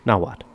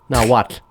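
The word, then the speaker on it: Nahuatl: is the that's the language of the aztecs now what it's spelt at the end it's it's n-a-h-u-a-t-l like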